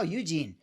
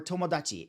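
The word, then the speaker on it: 友: Oh, Eugene, or Tomodachi. So there's two ways to pronounce this, right? But I like the fact that John chose Eugene, and because Eugene just means friend.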